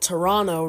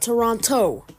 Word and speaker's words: Toronto: the Bank in Toronto that is how you pronounce it Toronto not Toronto Adam Pierce get that through